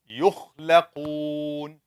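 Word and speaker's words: يخلقون: Yukhlaqoon. Yukh. Which is from the top. From the adna al-halq. Adna, closest. Wasat, middle. Aqsa, farthest. The one who is sleeping.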